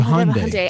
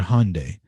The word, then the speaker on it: Hyundai: people over there that know how to pronounce the word hyundai not hyundai okay so let's let's